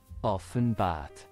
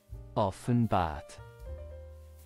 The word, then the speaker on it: Offenbart: say it all together often bat often bat ofen bat one more time ofen bat ofen bat of thank you for joining us